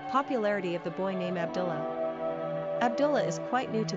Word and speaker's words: Abdullah: Pronunciation, Abd-Allāh.